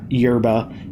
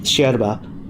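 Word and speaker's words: yerba: co-op here and yes I know it's it's not yba and it it's pronounced Sherba that's a weird one but I like it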